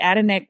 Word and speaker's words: Adenek: And just for humor, I know that the Adenek Group is a mouthful and people ask me, how do you pronounce it? But actually it is Kenita spelled backwards.